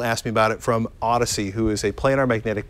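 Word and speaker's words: Audeze: Mobius and this is so you pronounce that Odyssey cuz I've always said Audis I've said Audis until someone it's odd as someone pulled me close and said it's Odyssey okay which you know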